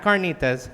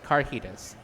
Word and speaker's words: carnitas: That's how she pronounces it, carnitas. Not carnitas, carnitas.